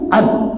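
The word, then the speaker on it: أن: aku tidak, bukan jika, an, bacanya an lam utalliqkan bifathil hamzati tuliqat fil hali, maka kalau dibaca an jatuh talaknya. Tapi kalau dibacain enggak, ya.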